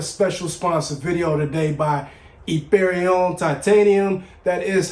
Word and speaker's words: Yperion: We have a special sponsored video today by Yperion Titanium. That is how you pronounce it if you were ever in doubt. Americanized, we're just going to call it Yperion.